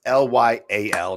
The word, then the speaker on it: Lyal: it doesn't which apparently i've been spelling his name wrong forever it's not allowed yeah it's l-y-a-l not l-y-l-e really yes he's lyal but